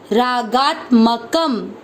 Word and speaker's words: रागात्मकम: क शब्द पूरा होने के बाद लास्ट वाले अक्षर पर है अनुस्वार, आधा म। रागात्मकम, रागात्मकम।